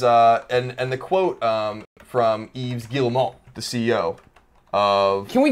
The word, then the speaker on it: Yves Guillemot: And it says, and the quote from Yves Guillemot, the CEO of... Can we give him a round of applause? That was some fucking pronunciation. Yeah. Do it again. Yves Guillemot.